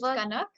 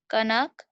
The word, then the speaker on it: कनक: कनङ्कव अवदम् Okay, अव it's Kanak. कनक Avdatam.